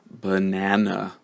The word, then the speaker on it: banana: uh can you hear which syllable is it the first second or third syllable that's stressed banana right I'm going to show you right now okay so you can see here that it is the second syllable the middle syllable which is stressed the first and the